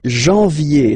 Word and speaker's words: janvier: But anyway, janvier, so that's the way to pronounce it. Janvier, A-N, en, okay? And then, ye, janvier.